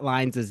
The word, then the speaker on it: Lynes: I guess that solved the conundrum I've always had in my head is how you pronounce George Platt Lynes' name. Well, thank you, Laurence, because his article is a pun, Learning One's Lines.